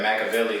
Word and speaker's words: Mackeveli: You can find me on social media at Instagram or on Twitter at Machiavelli, like the philosopher, but it's spelled Mackeveli.